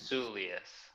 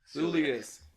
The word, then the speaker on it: Soulias: I'm sorry I didn't I didn't get your pronounced as your last name Julius Julius Nick sullius join us all the way from